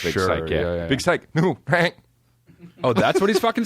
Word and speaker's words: Syke: Psych like Big Psych got you, or like Big Psycho? No, I think it's Big Psycho, even though it's spelled SYKE, but of course it is because rap.